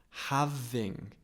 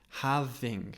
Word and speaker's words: having: look at the pronunciation having having we don't pronounce the G strongly at the end so we don't say